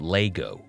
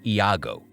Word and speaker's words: Iago: as it turns out the character's name isn't Lego it's Iago Iago talks about the